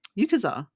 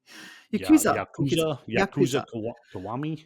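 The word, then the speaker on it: Yakuza Kiwami: There's even a Yukas um, Yukaza. God, how do you say that? Yakuza Kowami.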